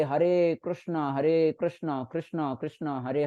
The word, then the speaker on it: कृष्ण: कृष्ण okay माता जी एक माता जी बोल रहे थे कि कृष्ण करके है ना तो ठीक है मैं कृष्ण करके मैं प्रोनाउंस करता हूं हरे कृष्णा हरे कृष्णा